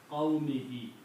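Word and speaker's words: قَوْمِهِ: In the pronunciation and tajweed, this is also pronounced as a kasra. Okay. So this becomes qawmihi.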